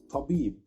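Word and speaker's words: طبيب: and the word is tabib. Again, tabib. Don't forget to pronounce the letter T heavy, and that's why I put it between two brackets.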